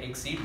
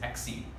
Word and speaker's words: accede: It does sound like exceed, but it is acceed. That is the pronunciation as far as I know.